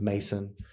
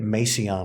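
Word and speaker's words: Maceon: counter and i said how do you say your name he goes mason and i said i bet you get macy on a lot and he goes yeah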